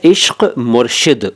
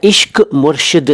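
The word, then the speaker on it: इश्क़ मुर्शिद: यह जो नाम है इश्क मुर्शिद उच्चारण सुन लीजिए देखिए मैं क्या बोल रहा हूं मैं इश्क मुर्शिद नहीं बोल रहा हूं जैसा कि पाकिस्तान में भी आमतौर पर बोला जाता है वो उच्चारण ठीक नहीं है वैसे तो आपकी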